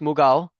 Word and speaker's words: Mughal: In India, it's pronounced Mughal, but once again, they're Orientals.